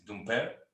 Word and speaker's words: Dumpert: Or how do you pronounce it? It's French. It's Dumpert.